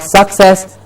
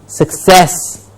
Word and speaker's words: success: syllable which is incorrect it is not success it is success the cess should be highlighted and not suck please make the correction